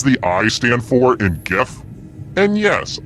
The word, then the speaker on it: GIF: i stand for in gif and yes i pronounce it with the g sound not the j who picked this which